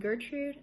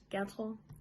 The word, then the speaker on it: Gertrud: I'm Gertrud, as Americans say, but my real name is Gertrud.